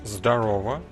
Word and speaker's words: Zdarova: And his teammate is, well, you are supposed to pronounce this as Zdarova, and that just means kinda hi in Russian.